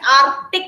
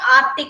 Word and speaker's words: Arctic: Yes, here C is silent. We will not say Arctic Ocean. We will say Arctic Ocean. So C is silent here.